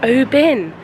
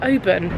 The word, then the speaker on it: Oban: And yes, I'm now going to correctly pronounce it. Oban. Benj, we haven't talked about the fact we've been calling it Oban.